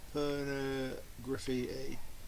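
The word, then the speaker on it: Pornograffitti: good stuff here I'm picking out um extreme por graffiti that's how you say it and um Cat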